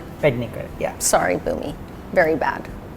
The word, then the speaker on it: Pednekar: Bhumi Pednekar. Pednekar.